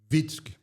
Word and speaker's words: Witzke: É isso mesmo que se pronuncia? Witzki.